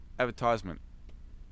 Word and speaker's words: advertisement: 31 is advertisement and the difference is like which syllable you stress yeah adver at advert let's break it down advertisement advert advertisement advertisement so